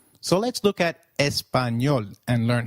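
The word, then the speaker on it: español: It is pronounced as ni like in canyon. So, can you try saying espanol? It is called espanol.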